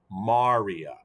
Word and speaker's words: maria: maria maria or maria more appropriately this is pronounced maria maria is the plural form of the singular